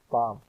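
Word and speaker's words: palm: میں نتھنگ ہی آیا۔ اسی طرح پام میں ایل خاموش سائلنٹ ہے۔ ہائی کا تلفظ ہے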